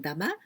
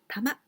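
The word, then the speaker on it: 玉: Dama, well, here we pronounce 500 yen dama, but only this kanji we can also pronounce tama.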